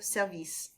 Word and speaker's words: service: Emphasis on the second syllable with service, okay? So it's la station de service.